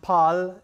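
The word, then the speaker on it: 팔: Okay, so in Korean, 8 is pronounced pal and 2 is pronounced e.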